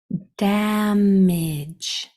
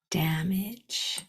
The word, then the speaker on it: damage: e at the end G makes it soft sound because there's an e after it and the E is silent so the sounds are d a m i j putting them together damage damage well done okay